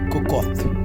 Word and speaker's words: cocotte: Looks like Cocotte, right? But the pronunciation of this is Cocotte.